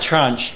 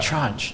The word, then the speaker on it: tranche: No, here's that rhymes with branch, because I thought it was trench or Oh, something.